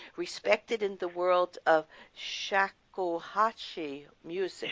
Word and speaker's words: shakuhachi: in the world of shakuhachi music. Shakuhachi, you've pronounced it absolutely correctly.